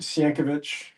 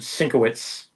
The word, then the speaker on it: Sienkiewicz: supposed to I've heard pronounce it. Sienkiewicz. Yeah. I've heard Sienkiewicz. Yeah. Sienkiewicz. I've heard Sinkowitz.